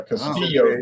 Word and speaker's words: Castillo: Puerto Rican run yeah Castillo they pronounce it Castillo Castillo Castillo yeah just that the two L's make a a y sound like yoyoo Caso remember C the